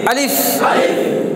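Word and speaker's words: ألف: তো আলিফটাই কিন্তু আলিফের কোনো উচ্চারণ হয় না, কিন্তু পড়ার সময় কি হয় না, আলিফের কোনো উচ্চারণ নেই, সেটা মদের ক্ষেত্রে আসবে।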